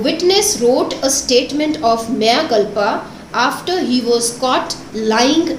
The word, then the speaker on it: mea culpa: The pronunciation is mea culpa. It's a Latin phrase.